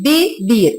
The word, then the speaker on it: vivir: que el verbo que cuando en español se escribe V tendremos el sonido de B entonces debemos decir vivir Entonces se conjuga yo